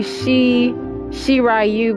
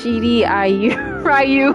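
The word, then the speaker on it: Shirai Ryu: I'm just I'm trying to I'm pronouncing it right with the with the I cuz people say she she rayu but it's she I rayu.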